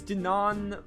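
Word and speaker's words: Dunan: your ears and listen well my name is Dinan yeah I'm not pronouncing that I'm nephew to Queen Alicia the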